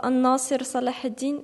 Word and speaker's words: An-Nasir Salah ad-Din: titre du film Saladin, qui se prononce en arabe An-Nasir Salah ad-Din, et Gamal Abdel Nasser, le président de l'Égypte.